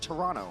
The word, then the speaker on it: Toronto: I know I didn't pronounce the second T. That's how the natives say it, Toronto.